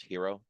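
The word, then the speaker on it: HIRO: just search for spot gamma H O It's pronounced hero it's just misspelled um they they really put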